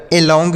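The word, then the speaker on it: along: बताया ंग पढ़ना है तो ये हो गया अलोंग ए एल ओ एन जी अलोंग डब्लू आर ओ एन जी तो डब्लू साइलेंट है आर से पढ़ेंगे र ओ एन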